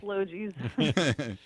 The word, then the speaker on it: Logee's: It's a hard word, but it's yeah, a soft G. Yeah, it's Logee's.